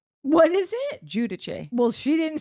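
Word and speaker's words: Giudice: Teresa changed the pronunciation of her last name. Yeah, You can do anything. and then went back on it. Who can say what it's? I'm going with Judice. It's very fancy. But it's actually Um, Judice.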